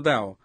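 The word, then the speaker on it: Daugh: Yo dije, hermano Dow, ¿puede oírme? Y él me miró. Not really in his name, he's a German, D-A-U-G-H, and I pronounce it Dow.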